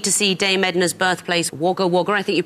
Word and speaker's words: Wagga Wagga: You did not need to see Dame Edna's birthplace, Wagga Wagga. I think you pronounce it.